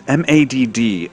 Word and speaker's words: MaDD: using it a lot I use MADD as an abbreviation for maladaptive daydreaming and I pronounce this mad like the word so burn that into